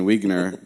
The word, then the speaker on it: Wiegner: That's from our friend Bruce Wiegner. He said his last name is pronounced like Wiener, but with a G.